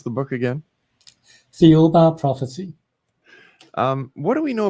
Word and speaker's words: Thiaoouba: And how do you pronounce the book again? Thiaoouba Prophecy.